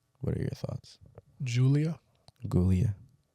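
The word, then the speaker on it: Giulia: Gulia. I've heard them pronounce it Julia. Oh, I've heard it pronounced so many ways.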